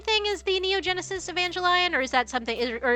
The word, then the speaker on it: Evangelion: Neo Genesis Evangelion. Yeah, it got the hard hard G. It's not Evangelion. It's Evangelion, or is it I always pronounce it like lion separately, like it's like I don't know why.